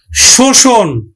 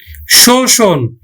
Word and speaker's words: শোষণ: বর্গ জকার হস ওজন শোষণ শোষণ দেখো মধ্য এর আগে কি আছে ওকার আছে তাহলে এখানে মধ্যটা সংবৃত উচ্চারণ হবে তাহলে আমরা উচ্চারণ করব কিন্তু স আমরা মূর্ধন্য স উচ্চারণ করি না শিক্ষার্থী বন্ধু মূর্ধন্য স